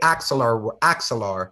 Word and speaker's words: Axelar: Sorry, I think I pronounced it. Axelar works. The way Axelar, that's what it is.